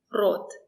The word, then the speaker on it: рот: When the letter O is stressed, we pronounce it as O.